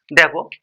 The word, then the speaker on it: the: কিন্তু আদৌ তোমরা এই ওয়ার্ডটার সঠিক উচ্চারণ করতে পারো। দেখো এখানে দেখো আমি দা অক্স লিখেছি আবার দা ফ্রগ লিখেছি।